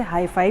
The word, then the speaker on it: HiPhi: है यूनिक क्यों है यूरोपीय अलग तरीके से प्रोनाउंस करते हैं रसियन अलग तरीके से प्रोनाउंस करते हैं चाइनीस है वो अलग तरीके से प्रोनाउंस करते हैं जैसे मैं हूं इसे हैप्पी बोल रही हूं लेकिन इसे हाई-फाई भी बोला जाता है अलग-अलग प्रनंसीएशन है